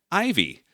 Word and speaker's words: Ivey: Ivey. I pronounced Ivey correctly, so that's 1 point for me.